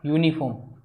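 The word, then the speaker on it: uniform: यूनिफॉर्म singular भी है और काउंटेबल भी है, लेकिन यहाँ पर वाउल साउंड नहीं आ रहा, इसका प्रोनाउंसिएशन होता है यूनिफॉर्म, और ये के लिए हम ए का यूज करते हैं ना कि एन का, तो ऑप्शन डी एलिमिनेट होगा।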